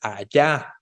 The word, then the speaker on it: allá: Y si tú dices allá, cambió de lugar la sílaba tónica.